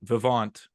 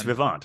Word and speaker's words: Vivant: grand blogger from Brewery Vivant I confirmed that pronunciation oh you did it's Vivant all right Vivant yes throw in that little French definitely has a little bit of a French vowel at action there yeah yeah